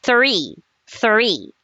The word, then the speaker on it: three: Three. Three. Okay. You have to pronounce the th sound th sound.